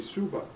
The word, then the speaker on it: Shoba: He just started and he says, "This is Arnold Shoba." Now, usually people say Suba. Oh, So do they really? Yeah. Oh, Because that Shoba is Bohemian pronunciation.